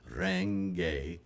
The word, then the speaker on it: Renge: Renge. It's kind of a rolled R there.